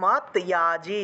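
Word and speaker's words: মদ্যাজী: এখন দেখুন এই যে ম দয়ের নিচে হসন্ত আছে না, দয়ের নিচে হসন্ত থাকলে তৎ হিসেবে উচ্চারিত হয়, তাহলে মদ ভক্ত, তারপরে মদ ইয়াজি, এটা উচ্চারণ হবে মত ইয়াজি, এইভাবে উচ্চারণ আসবে, ইয়াজি মাম নমস্কুরু, মামে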